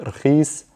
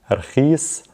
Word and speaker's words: رخيص: رخيص, we'll pronounce it رخيص, رخيص.